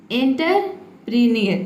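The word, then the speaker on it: entrepreneur: देखिए इसको आपको कैसे प्रोनाउंस करना है, पहले आपको बोलना है एंटर। देखिए यहाँ पे एंटर का मीनिंग दिया है ENTER, इसको बोलना है एंटर। उसके बाद है PRE, ये होगा आपका प्री, और नेक्स्ट क्या है NEUR, इसको हम बोलेंगे नियर।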